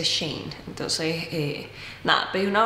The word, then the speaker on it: Shein: y me dice que no se dice sh in porque es una palabra completa se dice Shane entonces eh Nada pedí